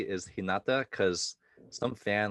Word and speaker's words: Hinata: Just for the record, actually, I don't even know if the only one I know I'm saying correctly is Hinata, because some fan like commented in 4 videos in a row.